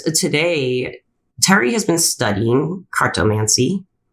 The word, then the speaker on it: cartomancy: But today, Terry has been studying carttomancy. Am I pronouncing it correctly? Cardammancy. Cardammancy.